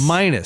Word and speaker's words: Minus: Minus, spelled like minus, m i n u s.